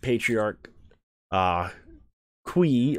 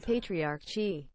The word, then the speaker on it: Patriarch Chi: This one I know to be not Patriarch Qui or Kwai, but Patriarch Chi.